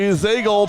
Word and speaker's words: Zagel: Also joining us from somewhere in Ohio, our buddy Ellie Zagel, pronounced like bagel, class of 2023.